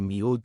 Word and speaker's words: miu: La pronunciación reconstruida para el egipcio medio es aproximadamente miu con la aproximante palatal j funcionando como elemento de transición entre la nasal inicial y la semivocal labial final.